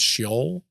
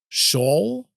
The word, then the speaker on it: Sheol: There's like two or three different pronunciations depending on where it's from. I think the way I'm supposed to say it is Sheol.